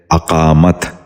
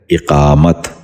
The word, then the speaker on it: اقامت: نشین کر لیجئے، افلاس۔ تیسرا لفظ ہے اقامت۔ یہ اس لفظ کا غلط تلفظ ہے، درست تلفظ ہے اقامت۔ دوبارہ سنیے، اقامت۔ بچوں